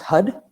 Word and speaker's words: Har: We will be I'm going to put on uh the what's called the tantric har which is h a r but it's pronounced hud and we will chant it.